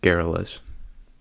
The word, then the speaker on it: garrulous: really an awful nuisance now the word garrulous is pronounced garrilous and it means excessively